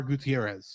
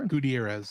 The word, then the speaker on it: Gutierrez: Gutierrez Gutierrez thank you I'm assuming I'm pronouncing Gutierrez correctly mly I'm basing it off of a character in froid that was played by Ricardo monoban ah who they called him Gutierrez instead of KH oh okay because he's